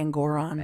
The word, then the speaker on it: Engoron: I say Engoron. Engoron. Rhymes with moron.